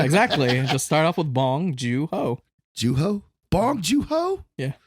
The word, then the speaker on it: Bong Joon-ho: I still don't know how to pronounce it properly. Bong Joon. I know Bong. Yeah, exactly. Just start off with Bong Joon-ho.